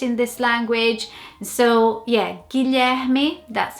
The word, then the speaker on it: Guilherme: So I think people here would try and say it Guilherme. Absolutely would struggle. Definitely would struggle with the name Guilherme here.